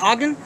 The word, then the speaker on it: Ogden: Is it Ogden? Yes, Pronounce sir.